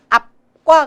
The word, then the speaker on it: 앞: 떼면 안 되기 때문에 앞과 같이 저는 피읍 발음을 했지만 사실상은 앞과 같이 발음, 비읍 발음이 나게 됩니다. 아파가 아바, 앞. 떼면 안 되니까요. 아파, 앞. 떼면 안 되니까 아빠, 앞.